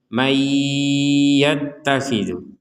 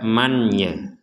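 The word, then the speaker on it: مَنْ يَتَّخِذُ: Di sini ada nun sukun bertemu dengan ya, maka kita membacanya adalah dimasukkannya nun ini kepada huruf ya, sehingga dibacanya mayyattakhidhu. Mayyattakhidhu, jadi dengung dulu ya, dimasukkan dan dengung seperti itu. Jadi jangan dibaca manya. Nah, kalau dibaca manya itu kan dibaca dengan jelas.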